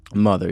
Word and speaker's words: MOTHXR: The name of the band is Mother? Mother, yeah, spelled with an X. With the X, where the E would go. Yeah, MOTHXR. Okay.